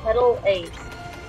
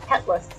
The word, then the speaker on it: Petal Ace: forget what yours is the petal ace yes it's spelt petal a you kept calling it a petless whatever it should be